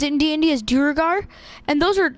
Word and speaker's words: Duergar: Like, that's actually how you pronounce it in D&D, is Duergar.